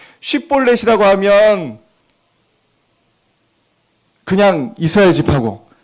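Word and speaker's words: שיבולת: 발음. 쉿볼렛이라고 하면 그냥 이스라엘 지파고, 십볼렛이라고 하면 쉿볼렛 말고 십볼렛이라고 하면 에브라임이다.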